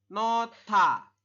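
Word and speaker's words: 놓다: seperti ini ya nohda Anda membacanya adalah nota Kenapa jadi nota sem ya karena hiatnya ada di akhir berarti dia tidak di tidak dibaca ingat-ingat ya hiat dibaca jika di awal jika di tengah dan di akhir tidak di tidak dibaca seperti itu Jadi dibacanya no ditambah dengan hi bertemu dengan Diget maka Diget dibacanya Ti seperti ini maka kita membacanya nota nota seperti itu oke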